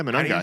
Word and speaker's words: Monangai: Yeah, Monangai. How do you probably pronounce that?